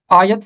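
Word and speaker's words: آیت: और ये लफ्ज कुरान मजीद में कोई 4 दफा आता है, जैसे सूरह मायदा आयत है 44 और 63, सूरह तौबा आयत है 31 और 34। इसका तलफ़ुज़ है आयत, इसका तलफ़ुज़ आयत या कुछ और नहीं है, इसका तलफ़ुज़ है आयत।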